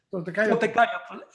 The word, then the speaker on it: Toltecayotl: Toltecayotl. Recuerden que las palabras náhuatl de 2 sílabas en adelante, todas son llanas, es decir, se pronuncian en la penúltima sílaba, se pronuncia el acento.